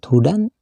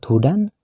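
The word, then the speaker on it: هدًى: waakafnya dengan Alif pula kalimat Hudan bila dihentikan membacanya harus dibaca Huda dibaca panjang sekitar dua Har at pada kalimat Hudan ada huruf Dal berbaris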